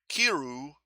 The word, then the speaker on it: kiru: lill it's an America it's a corruption it's an anglicanization of Kiro kiru k i r u is how they spell it La kiru uh